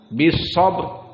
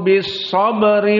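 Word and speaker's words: صبر: Jika kita wakafkan bis sabr, maka mufakhamah. Namun jika wasil, wa tawasau bis sabri wa tawasau, maka di sini ra muraqqaqah.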